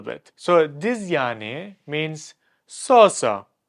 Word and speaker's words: yani: Yani. You lengthen it. You drag it out a little bit. So this yani means so-so.